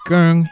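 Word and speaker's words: 薑: Ginger, pronounced gurng in Cantonese, has been a staple of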